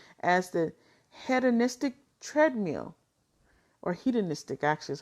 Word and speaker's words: hedonistic: So this is what psychologists and sociologists refer to as the hedonistic treadmill, or hedonistic, actually is how you pronounce that, sorry.